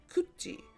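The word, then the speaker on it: 굳이: When E follows these letters, the tiget turns into a jiet sound, and the tiet turns into a chiet sound. So that's why we get kachi, kachi, and kuti, kuchi, kuchi, kachi, kuti.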